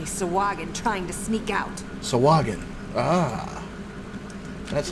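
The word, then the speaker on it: Sahuagin: Sawagin.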